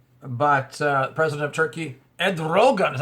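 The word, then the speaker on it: Erdoğan: trouble in Turkey but uh president of Turkey Ed Rogan is how you say his name uh said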